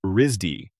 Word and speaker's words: RISD: He went to college in 1991 at the Rhode Island School of Design, known to most people by its initials RISD, pronounced Risdy.